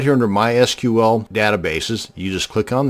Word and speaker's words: MySQL: going to show you how to create a mysql database and yes it's pronounced mysql not mysql so the next time